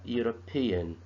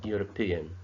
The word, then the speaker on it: European: A European. The E sound is silent, and we started pronouncing the word with pronouncing the U sound. So it is a European.